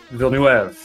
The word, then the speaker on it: Villeneuve: I had it spelled out phonetically. You ready, Matt? Right. Villeneuve.